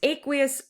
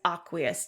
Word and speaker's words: aqueous: Pronounced aqueous or sometimes aqueous, depending upon where you learn it from.